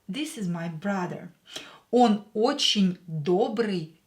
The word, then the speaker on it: очень: Here, ye is not stressed, so we will pronounce it as e.